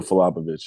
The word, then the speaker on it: Filipovic: Is it Filipovic or Filopovich? No, Nico Falapovic.